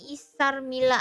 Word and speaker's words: Isar Mila: Bacanya Isar Mila aja.